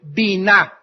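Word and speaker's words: בינה: la palabra vina b y n a H bina otras veces simplemente se pronuncia en el hebreo Bin by yn inteligencia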